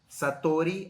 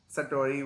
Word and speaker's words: Satori: you mentioned a term called Sattorii or Sattorii I don't know how to pronounce it but correct that's correct Sattorii is fine and it was very